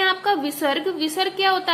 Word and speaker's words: विसर्ग: आगे आते हैं आपका विसर्ग। विसर्ग क्या होता है, जब ए के आगे इस तरीके से दो बिंदी लगी होती हैं और ये हमारी है की आवाज देता है उच्चारण हम इससे करते हैं, जैसे कि प्रातः, अतः।